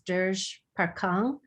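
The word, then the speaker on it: Dege Parkhang: i know it's i think it's called uh degay or duggar that's it you're pronouncing it correctly i i just know it is dirge parkhang and they have an online i have a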